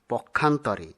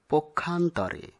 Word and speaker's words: পক্ষান্তরে: অনেকেই পক্ষান্তরে এরকম উচ্চারণ করে থাকেন, যা সঠিক নয়। সঠিক হবে পক্ষান্তরে।